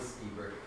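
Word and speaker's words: Lstiburek: You pronounce it Stiebrick.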